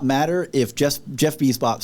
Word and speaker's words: Bezos: As a showrunner, of course, like it does not matter if Jeff Bezos says, "Hey, man, we're making eight seasons." It's pronounced Bezos.